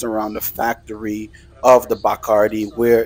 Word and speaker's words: Bacardi: Next, we have the Bacardi rum tour. I'm saying Bacardi because that's the way they pronounced it. But this is the Bacardi rum tour.